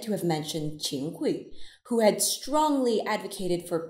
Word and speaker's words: 桧: They called this fried dough youjiagui, with the heteronym character hui being pronounced gui, which literally means deep-fried gui, so deep-frying the minister.